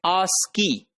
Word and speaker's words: ASCII: is called ascii and that is pronounced as ask key so that ascii had